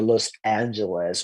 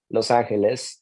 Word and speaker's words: Los Angeles: I would usually say San Francisco, Los Angeles, and Palo Alto. Palo Alto. That's it. Like I try not to embrace the English pronunciation in names that are Spanish, that come from a Spanish origin.